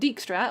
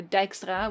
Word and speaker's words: Dijkstra: sorceress, and you have Sigismund Dijkstra, or Dijkstra, which is like the Dutch pronunciation.